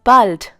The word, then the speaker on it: bald: Bis bald. Once again, bis bald. This is commonly used amongst friends. Please remember here that bald has the sound of A, like hallo.